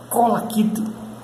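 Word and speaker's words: collect: Colaquite. Colaquite, colaquite. Alguns, né? Colaquite não. Não, se fosse colaquite tem um acento, né? Mas não é. Colaquite. A palavra é reta, né? Direta. Colaquite.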